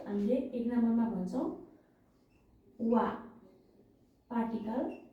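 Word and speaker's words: は: ल थोरै डेफिनेसन हेरौ है त पार्टिकल वालाई कति बेला प्रयोग गरि भनेर लख्दै जान्छु हेर्नुहोला है त यदि हिरागानाको हा है हिराकानाको हालाई पार्टिकल्स को मा लिन्छ भने हालाई वा भनेर उच्चारण गरिन्छ।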